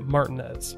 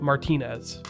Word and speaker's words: Martinez: And yes, before you grammar Nazis rush to correct me, the locals do pronounce it Martinez, not Martinez.